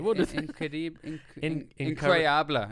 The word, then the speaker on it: incroyable: Incroyable is how you say it.